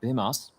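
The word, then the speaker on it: Bymas: Bimas. I do believe that's how he pronounces his name. That's HLTV confirmed for as far as I'm aware.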